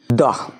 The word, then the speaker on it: the: article বসাবো article দা উচ্চারণ দা কেন করলাম কেন কি টি আছে টি কি কনসোনেন্ট কনসোনেন্ট থাকলে কি হবে তার উচ্চারণ দা হবে আর এখানে টি না থেকে যদি কোন ভাওয়েল থাকতো তাহলে টি এর উচ্চারণ হতো দি কি হতো দি এখানে কোন উচ্চারণটা হবে